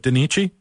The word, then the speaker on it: Danichi: you can start us off and am I pronouncing that correctly is it denich yes uh denich okay denich why